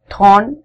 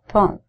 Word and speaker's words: thorn: It's not thorn as we say in Indian accent. It's thorn.